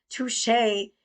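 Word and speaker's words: touché: Touche. It's pronounced touche.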